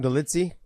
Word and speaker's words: Dolidze: Dolidze?